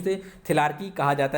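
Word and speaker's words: thelarche: कुछ लोग थिलार्की पढ़ते हैं, कुछ लोग थिलार्चे पढ़ते हैं। ठीक है, कई बार हर एक बोर्ड ने, कमीशन ने अलग अलग इसका प्रोनाउंसिएशन किया है, तो ये थिलार्की पढ़ा जाता है।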